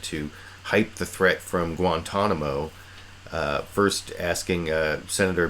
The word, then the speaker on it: Guantanamo: especially the third time I think he mispronounces Guantanamo Bay as guantamino gay or well you